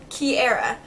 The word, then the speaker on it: Kiera: So I decided to go back and I decided to add it with the word air in it, just so I think it's a little bit more easy to pronounce the way that we want it pronounced.